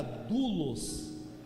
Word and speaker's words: doulos: Esse seminário como dolem ele se pronuncia dulos dul digam todos comigo